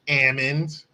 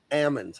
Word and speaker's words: almonds: Almonds. It's I don't like almonds. I've heard someone say almonds. They're almonds. There's an L in that.